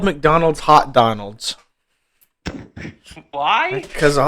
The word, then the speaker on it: McDonald's: I just don't see how you can pronounce McDonald's Mac McDonald's cuz there's no there's no a between like the M and the C. It's just MC and then Donald's. So it's just McDonald's.